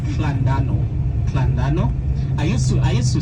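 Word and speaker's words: Llandudno: They said no, it's Llandano.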